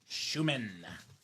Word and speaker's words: Schuman: So, very nice for Schuman. It rhymes with Newman in Seinfield and also now with uh the Sean show I'm watching Lumen as well. Lumen Schuman Lumen Newman.